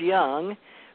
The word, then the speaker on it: Jung: Jung, but it's Jung, but the J is pronounced like a Y in psychology.